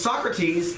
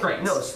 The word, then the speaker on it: Socrates: Number 11 is Socrates, the gargoyle thinker. Now, this sounds really weird, but it's exactly. I thought you were like talking about like soccer shirts. No, like it's exactly, Socrates.